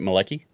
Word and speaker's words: Malecki: And just to clarify up front, I'm pronouncing that correctly, right? Malecki?